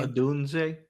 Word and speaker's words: Odunze: Odunze.